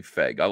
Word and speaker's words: Feig: I'm going to say Feig. I'm comfortable with the, I'm comfortable with that pronunciation.